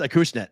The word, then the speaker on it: Acushnet: Well, it looks like Acushnet. I think it's how you say it. I think it's Acushnet.